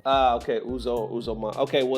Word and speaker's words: Uzoma: I see, is it Uzor or how do you pronounce it? Uzo, yeah. Uzo is the short form. It's Uzoma, but Uzo is a short form. Ah, okay, Uzoma.